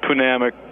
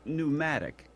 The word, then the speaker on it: pneumatic: gauges the what uh pamic pressure gauges I think I think you're trying to say pneumatic uh other's yeah is the P first silent it's a silent P yeah it's it's pneumatic oh all right um